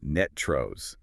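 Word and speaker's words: NTREIS: Locally, we pronounce that acronym netros ending with a rust sound.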